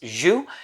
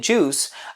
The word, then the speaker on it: J.U.S: the brand is j-u-s it's an acronym in french it's pronounced zhu in english i guess you can call it juice but it stands for